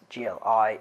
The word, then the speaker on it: gli: Negli is once again the union of in plus gli, which is pronounced gli in Italian.